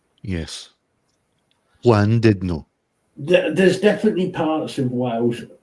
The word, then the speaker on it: Llandudno: Actually, I believe it's pronounced Llandudno. Llandudno. Yes. Llandudno.